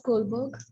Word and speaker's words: Kohlberg: It rhymes with iceberg. Lawrence Kohlberg.